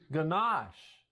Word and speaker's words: ganache: Ganache.